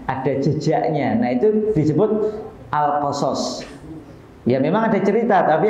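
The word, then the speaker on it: القصص: asyuaro dua kali alqisas nek mriki nyebute alqisos no alqasos alqasas kalau di luar negeri sebagai nyebutnya alqisas pakai kasrah di depan kemudian asofat dua kali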